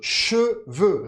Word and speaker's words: cheveux: Toda vez que você verá esse sonzinho de EU, você vai pronunciar assim, Palavras, por exemplo, com esse sonzinho. Peu, pouco, le feu, o fogo, le feu. É quase, praticamente é o som de que é boca de U, som de I, Então, se você vê